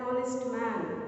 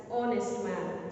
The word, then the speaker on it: honest: Honest, an honest man. Okay, here we have H, but the sound is O. We are pronouncing that one as honest man.